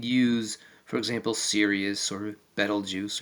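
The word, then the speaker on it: Betelgeuse: for example cus or Bal juice or if you want to pronounce it Beetlejuice or or any other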